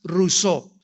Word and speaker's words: Rousseau: mundo llamado Jean Ja rosau rosau o rousseau como lo quieran pronunciar en francés Jean Ja rousseau este hombre nació en